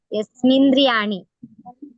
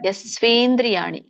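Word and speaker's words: यस्त्विन्द्रियाणि: ಅಸವಿಶಿಷ್ಯತೆ ಯಸ್ವೇಂದ್ರಿಯಾಣಿ ಯಸ್ಮಿಂದ್ರಿಯಾಣಿ ಮಿ ಇಲ್ಲ ಅಲ್ಲಿ ಗೊತ್ತು ಇದೆ ಯಸ್ವಿ ಯಸ್ವಿ ಯಸ್ವಿ ಯಸ್ವೇಂದ್ರಿಯಾಣಿ ಯಸ್ವೇಂದ್ರಿಯಾಣಿ ಮನಸ ಸರಿ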